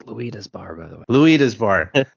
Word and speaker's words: Luida's Bar: Yeah, it's Luida's Bar, by the way. Luida's Bar. Thank you. Well, I'm notorious for mispronouncing everything, so yeah, we'll get to that in a bit.